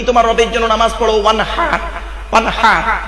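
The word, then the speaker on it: وانحر: হচ্ছে নবী তুমি তোমার রবের জন্য নামাজ পড়ো, ওয়ানহার ওয়ানহার, এই গলার ভেতর থেকে হাইটা উচ্চারণ হবে, হাই ওটি, হাই হাওয়াজ নয়। ফাসাল্লি লিরাব্বিকা ওয়ানহার, এর মানে হচ্ছে নবী তুমি তোমার রবের জন্য নামাজ পড়ো, ওয়ানহার, এবং কুরবানি করো।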